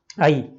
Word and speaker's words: ऐ: आई, आई का उच्चारण कैसे रहेगा, जैसे अ ई, इनको हम अलग अलग बोल रहे हैं लेकिन शीघ्रता से बोल रहे हैं। आई, आई और औ, औ।